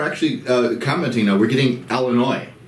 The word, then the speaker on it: Illinois: Yeah, they pronounce the S.